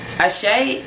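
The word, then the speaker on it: Àṣẹ: Ashe is spelled A-S-E, and that S is sh. So, you know, it's like a special accent or symbols on it to make it sh.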